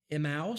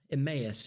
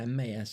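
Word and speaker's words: Emmaus: on the road to Emos is that how you pronounce that emmus yeah Emus I I know I always mispronounced that emmus Luke 24:13-35 and seven disciples by of the Sea of Galilee.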